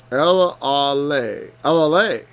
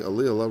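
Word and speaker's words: Elealeh: El-Ale. Oh. El-Ale, I was pronouncing Elialah wrong. Or more properly, Jel-Allah. El-Ale, from El and Allah.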